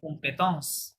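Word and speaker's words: compétence: ইংরেজিতে কি বলে কম্পিটেন্স কম্পিটেন্স ফরাসিতে ফরাসি স্টাইলে বলতে হবে কি বলতে হবে কমপেথস কিভাবে কমপেথস এসোসিয়েল ফ্রেন্ড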